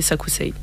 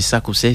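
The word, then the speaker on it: Sakucey: Oui, tous mes réseaux sociaux, c'est Sakousei. Voilà, sur tous les réseaux sociaux, c'est Sakousei. Ça s'écrit S-A-K-U-C-E-Y.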